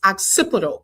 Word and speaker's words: occipital: If y'all didn't know, like me, it's occipital.